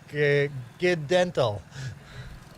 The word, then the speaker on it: Gnadenthal: But for me, Gnadenthal.